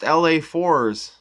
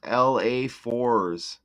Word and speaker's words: LA4ss: Oh, it's pronounced LA4s. Now there it is. His stage name is pronounced LA4s.